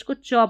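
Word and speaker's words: catch: पढ़ते हैं, वैसे ही सीधा सा आपको TCH को च पढ़ देना।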